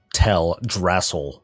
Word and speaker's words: Teldrassil: Oh, I was just focused on how you pronounce Teldrassil. That's a good one. Yeah, thank you. Teldrassil.